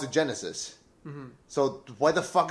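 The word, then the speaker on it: Genisys: But they pronounce it Genesis.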